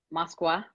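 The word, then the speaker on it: Москва: about Moscow about Russia about Moskva right that's how you say it and and literally what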